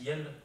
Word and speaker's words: iel: Par exemple, ce pronom qui se prononce iel, I-E-L.